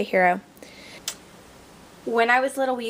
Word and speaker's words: gyro: and it's spelled g g-y-r-o now most people pronounce it gyro so but i was told that the greeks pronounced the g like an h so that's why i say hero when i was little